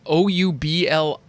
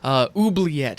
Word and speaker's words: Oubliette: All right, so the card that we're looking at today is Oubliette. And yes, that's how you pronounce that. It's Oubliette. Oubliette.